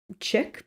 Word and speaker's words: Chic: when a little boy named chick but spelled like chic chic who carried bats and